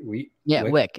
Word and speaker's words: Wieck: Well, check out, you guys, Victoria Wieck. That's how you say it, right? Wieck.